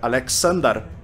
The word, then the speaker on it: Aleksandar: Quando Alexandre I, na verdade, na pronúncia sérvia Aleksandar, anunciou o noivado, a